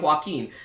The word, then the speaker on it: Joaquin: I'm gonna keep saying Joaquin. Y'all said to say it like Joaquin Phoenix, so that's what I'm doing.